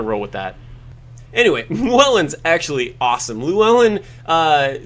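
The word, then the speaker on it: Llywelyn: Lou Allen uh and it's the Welsh it's it's an LL e w Luellen uh and I think that in the Welsh language I'm under the impression that it's pronounced with some like back of the throat like a sound that I'm just never going to be able to pronounce like a like a clellan kind of sound um for me I'm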